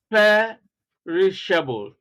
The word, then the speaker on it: perishable: Now, examples of words ending with the suffix able. We have perishable, charitable, cultivable, habitable, comfortable. See, stress on the first syllable.